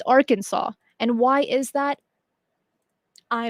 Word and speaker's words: Arkansas: Now, if you don't live in the United States and you see the word Arkansas, you would pronounce it Arkansas, because Kansas, this sounds like Kansas.